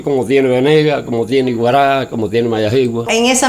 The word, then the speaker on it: Iguará: Iguará es una palabra india y quiere decir tierra de grandes árboles.